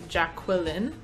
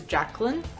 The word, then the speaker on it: Jacquin: that because well okay my name is jacquin and no one can say it right everyone says Jacqueline and I think that's kind of dumb because you know you're missing like a whole midsection of my name so I go by